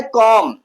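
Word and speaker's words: comb: B silent होता है तब जब बी आया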